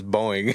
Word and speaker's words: Boeing: I'm making the noise. No, it's Boeing.